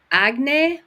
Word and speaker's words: Agne: with me the beautiful now I hope I pronounce this correctly correctly agne is that how you say your last name